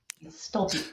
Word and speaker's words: Stolpe: stopy see I was saying it right awesome staly yeah it's no it's Scandinavian Norwegian I believe it's originally pronounced St ah okay of course awesome gotta